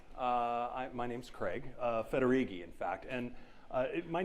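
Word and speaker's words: Federighi: your disk or something it's pronounced roughly like this uh federigi if you forget it you could say fettuccine when I was uh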